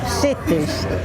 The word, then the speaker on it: Sitti: Raleigh called CE cies C say it again cies cies I'm going to spell it the way we used to s i